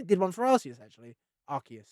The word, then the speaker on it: Arceus: Arceus, right? That's how you're supposed to pronounce it, surely.